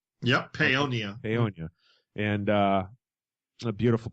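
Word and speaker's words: Paonia: Colorado is am I saying it right yep ponia ponia and uh a beautiful place out there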